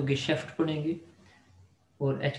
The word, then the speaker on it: Geschäft: ठीक है, इसको हम उमलौट आ गए तो गिशेफ्ट पढ़ेंगे और एच को साइलेंट Geschäft.